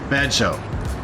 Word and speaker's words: Bello: to meet her in Bellow the local pronunciation is vjo vjo is about 30